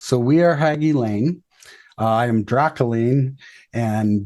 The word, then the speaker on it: Hagy Lane: Hagy Lane. Yes. Hagy Lane. Okay, perfect. I just want to make sure I got the pronunciation right.